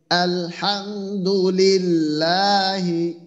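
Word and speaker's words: الحمد لله: আলহামদু আলহামদুল হামদু আলহামদু আলহামদুল হামদু লিল্লাহি লিল্লাহি আলহামদুলিল্লাহি আলহামদুলিল্লাহি আলহামদুলিল্লাহি আলহামদুলিল্লাহি হ্যাঁ আশিকুর রহমানের যেটা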